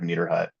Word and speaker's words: Niederhut: My last name is Niederhut. It's got a lot of letters in it, which sometimes scares people. It's just pronounced like my hut is neater than your hut. I have Niederhut.